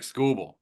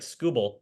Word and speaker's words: Skubal: do just Jackson holiday straight up for Terk scoble nah it's not enough so I don't think